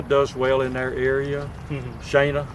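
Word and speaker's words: Shaina: Shana is the way you pronounce it.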